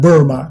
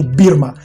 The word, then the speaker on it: Burma: Itu bahasa Inggris pengucapan Burma. Kalau Indonesia itu Birma. Bahasa Rusia juga Birma.